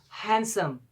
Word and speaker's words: handsome: Same like it, another word, and the most important one is handsome. This is handsome. This is not called handsome. Handsome. It's because the letter D is silent in this word.